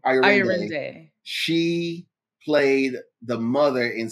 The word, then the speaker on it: Ayorinde: Ayorinde.